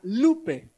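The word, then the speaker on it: λύπη: Es una palabra griega lupe, así como como lupe, pero con acento en la U.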